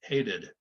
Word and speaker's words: hated: So if it ends in a D or a T, we can't make two Ds or two Ts in a row. You won't hear it. So we have to add that id, the extra, the sort of the schwa, and then the D, hated.